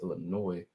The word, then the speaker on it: Illinois: embrace the fact that Illinois is not pronounced with the silent Ness is pronounced Illinois with no s so now you have